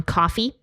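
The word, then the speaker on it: Ko-fi: me out over on coffee it looks like Kofi but it's pronounced coffee it's adorable like what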